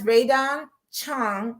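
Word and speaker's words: Rae Dawn Chong: And that's Raydon Chong.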